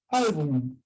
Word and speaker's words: álbum: Esa palabrita, muchos la pronuncian mal. Dicen álbum y lo pronuncian con una N nada más, ¿no? A ver tu álbum con N, pero la palabra es álbum con M. Son pocos los que lo pronuncian con M.